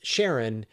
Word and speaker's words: Charon: And so the pronunciation that Alan Stern uses is Sharon, which is the same pronunciation that Christie uses, the guy who discovered it.